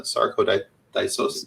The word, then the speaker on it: sarcoidosis: And with her dealing with Guillain-Barré syndrome, you talked about some of the issues with fibromyalgia and the sarcoidosis.